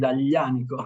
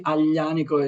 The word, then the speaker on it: Aglianico: As my family name, the same happens with Aglianico. It is AGL, so you have to, sometimes to educate people to try to pronounce it properly. Aglianico is very complicated, but